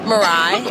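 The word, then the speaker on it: Mirai: area so how do you how do you pronounce it marai okay yeah so and what will the uh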